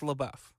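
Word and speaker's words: LaBeouf: It's pronounced Labbuff. It Jackson. I think it's I think it's Labou. No, it's Labou. All right. Labuff.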